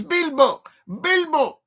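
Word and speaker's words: Bilbao: 2 syllables. Yeah, no borough. No bow. Bilbo. It's Bilbo.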